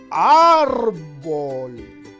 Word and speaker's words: árbol: a la sílaba ar por eso decimos árbol la mayor fuerza de voz está en la sílaba ar pero la tienda se